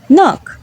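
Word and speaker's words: knock: Letter তখনই silent হয় যখন এর পরে এন থাকে। তখন কে সাইলেন্ট হয়ে যায় এবং এন প্রোনাউন্স করতে হয়। যেমন নলেজ নিউ নাইট নক আজকের আলোচনা এই পর্যন্তই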